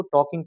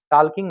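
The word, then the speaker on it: talking: इसको टॉकिंग पढ़ेंगे साथियों। टॉकिंग होगा, एल साइलेंट होता है इसमें, टाल्किंग नहीं होता है, टॉकिंग होता है। टाल्किंग नहीं होगा, टॉकिंग होगा, ठीक है।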